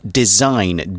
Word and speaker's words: design: got the the verb design d s i g n the g is silent it's design and to design something